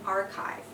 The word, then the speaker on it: archive: archive yeah so usually well there are cases when a CH together are pronounced as C and this is one of those cases so this is an archive mhm and [ __